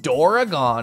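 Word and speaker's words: ドラゴン: to be fair Dora what doragon is how you pronounce it using the Japanese language I had no idea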